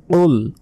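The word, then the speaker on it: قُلْ: সম্পূর্ণ ভুল বলতে হবে কুল কুল লাম পেশ কুল মোটা করে উচ্চারণ হবে কুল হু আল্লাহু হু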